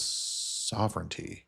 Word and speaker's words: sovereignty: Because somebody commented, sovereignty doesn't rhyme with serenity.